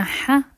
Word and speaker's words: ح: and G G now the ha sound comes from the middle of the throat there's no equivalent in English but you can try to cough and the sound is going to come out it's basically like a more hsy H also you can try to clear your Thro because it's so similar to the sound you make when you do it now let's practice pronunciation